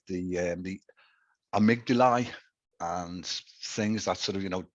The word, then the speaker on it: amygdala: Did I pronounce that correctly, do you think? Yes, amygdala.